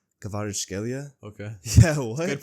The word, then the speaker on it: Kvaratskhelia: Kvaratskhelia? Okay. Yeah, what? Good pronunciation.